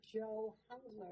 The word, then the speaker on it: Joe Hungler: And we have our executive director, Joe Hungler. Did I say it right? Yes, you did. I tried to say hungry first.